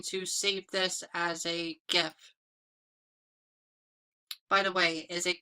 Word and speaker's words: GIF: I call it GIF, it's not GIF, because that's like how the peanut butter is spelled, but let me know how you pronounce it.